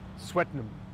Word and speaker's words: Swettenham: ham sweet sweet sweet sweat spelled like sweat so sweat Swettenham sweat ham sweaty hat